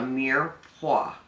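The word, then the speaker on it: mirepoix: flavor base for anything it's called a mere Hua m-i-r-e-p-o-x pronounced but we are adding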